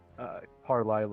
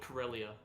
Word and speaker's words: Karelia: Carlisle or whatever. I don't really know how to pronounce. What? It's called Karelia, but...